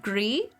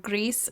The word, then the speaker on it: Gris: I was informed it is pronounced Gree.